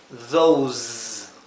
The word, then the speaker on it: those: Estas que están donde la S viene seguida por una vocal, la S se pronuncia como un zumbido, z, z, mientras que esta se pronuncia s, más como un silbido, como la S española. Por lo tanto, esto se pronunciaría this y esto se pronunciaría those. Y este de arriba sería these.